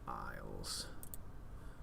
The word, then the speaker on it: isles: sentences come on brain you know how to spell isles Isel because of course there's a silent s right right right dust